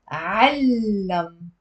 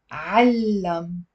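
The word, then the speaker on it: عَلَّمَ: علم. علم. So there is a fatha on the ain and a shadda on the lam with a fatha.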